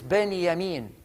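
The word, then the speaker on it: בנימין: benjamin means in hebrew is that j is pronounced at y so his name is benny amin ben and hebrew means son yamin is the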